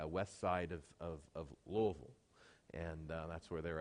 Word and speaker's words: Louisville: say it right because she corrects me it's Louisville Kentucky Louisville now how do you pronounce it how you'd like but they say